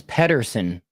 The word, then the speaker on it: Pettersen: Okay, yeah, it was weird because it's like with an E instead of an A. Oh, it's Pettersen. Yeah, Pettersen. That's what I was thinking. Pettersen. The Yeah. A is silent. And what's insane is like, so the vote. There's no A.